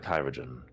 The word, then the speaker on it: chirurgeon: "Yes, we are the Kyrogen." Could you spell that for me? Yes. Let me pull it up myself. Just for my own edification. CHIRURGEON. "Oh, like the old form of surgeon."